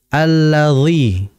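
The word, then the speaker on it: الذي: perhatikan pada huruf dza karena huruf dza ini biasanya terjadi di antara saudara kita membacanya seakan-akan seperti D yang kasrah alladzi nah yang betul ad adalah alladzi kemudian berikutnya Nah kita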